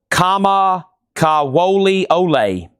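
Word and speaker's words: Kamakawiwoʻole: His name is pronounced Kama Kawoli Ole.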